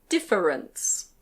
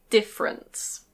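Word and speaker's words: difference: This word can be pronounced "dif-fe-rence". Dif-fe-rence. But usually we say "diff-rence". Diff-rence.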